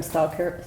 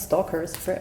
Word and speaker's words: Stoker: I was watching Bram Stoker, how do you say Bram, not Stalkers, Bram Stoker's Dracula yesterday.